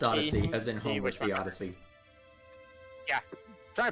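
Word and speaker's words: Odysee: onto a place called odyssey e yeah it's pronounced odyssey as in holy yeah try to put emphasis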